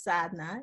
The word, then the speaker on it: Sadhana: say that the donna sadana what is what what's the order is an indian sanskrit name and so the correct pronunciation is sadna it's an indian name